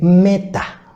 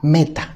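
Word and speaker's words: μετά: interesante esta pre posición es conocida y se pronuncia como meta meta así es la preposición griega que es traducida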